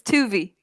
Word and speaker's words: Tuvi: Her name is Tuvi. Tuvi. Tuvi, yeah, like rhymes with movie.